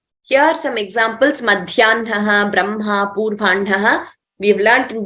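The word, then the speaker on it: ब्रह्मा: Madhyanhaha, Brahma, Purvanhaha. We have learnt in detail. They are exceptions to the rule. So we don't pronounce as it is written. We pronounce Brahma, not Brahma.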